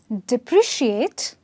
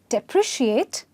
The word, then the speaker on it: depreciate: Depreciate and deprecate. Okay? Now, please pay attention to the pronunciation. Depreciate and deprecate. Okay? The C sound here is an S sound and the C sound here is a K sound.